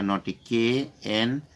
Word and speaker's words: knotty: तो 13 नंबर में क्या लिखा, नोटी, KNOTTY, ये भी नोटी है, दोनों नोटी है।